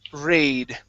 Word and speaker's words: raid: uh let's go to the word raid okay this is going to be a long a sound two air raid shelters